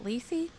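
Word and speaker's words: Lysi: am playing as it lacy how would you like to pronounce her that's how i would pronounce it l-y-s-i so cool um she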